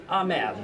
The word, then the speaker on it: Ahmed: here with Corey and ahed yes I pronounced that correctly that is correct that's good thank you